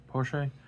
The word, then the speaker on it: Porsche: he open up guess he opens up what porch I guess technically you can cheat him out with porch right is that what people play or Porche how do you say her name Porsche yeah um she cheats out what a four